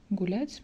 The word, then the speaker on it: гулять: And here U, this one, U is not stressed, but anyway we pronounce it like U. So in every time we pronounce U like U.